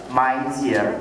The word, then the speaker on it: maisir: gharar, and then the avoidance of transactions involving maisir or gambling.